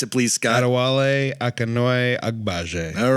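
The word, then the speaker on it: Adewale Akinnuoye-Agbaje: His name is, pronounce it please, Scott. Adewale Akinnuoye Agbaje.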